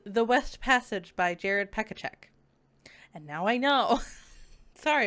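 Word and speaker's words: Pechaček: It is actually pronounced, this book is The West Passage by Jared Pekacek.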